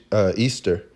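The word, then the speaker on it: Ishtar: goddess name or it the name looks like is H I star but it really is pronounced it's Easter alright and that goddess goes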